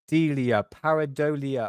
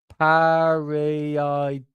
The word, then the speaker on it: pareidolia: Paradolia. Oh my god. See, I've just proved my point, mate. I've just proved my point. Pareidolia.